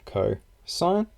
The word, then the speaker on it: cosine: Right, you also have that cosine is pronounced like cosine, and then tangent is tangent.